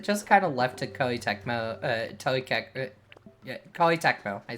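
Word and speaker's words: Koei Tecmo: or was it just kind of left to Ky Techmo?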